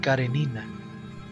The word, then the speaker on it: Karenina: Lo que más impactó al doctor Frank fue el modo en que lo pronunció, pues lo habitual es decir Karenina, pero Pablo lo hizo como si fuera ruso. Karenina.